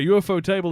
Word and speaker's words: Ufotable: Just so in case anyone isn't aware, Ufotable is actually pronounced UFO table.